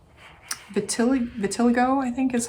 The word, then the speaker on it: vitiligo: And then one of these hands I'm actually going to make a skin pattern called vitiligo, I think is how you say it, vitiligo.